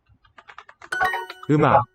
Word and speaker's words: 음악: You can't hear that syllable boundary. It's just we get a syllable mak, but it's written as That's historically what the pieces were. First syllable looks kind of like the hanja. Second syllable ak, 음악.